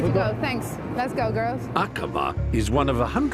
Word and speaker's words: Aqaba: Is that how you would pronounce it? Yes, Aqaba.